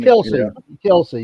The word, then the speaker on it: Kelce: Kelsey, yeah, Kelce.